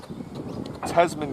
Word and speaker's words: Tasman: see today is tams tasman gandhi i've been calling it thames and every second time i say her name this week that's wrong i apologize but tasman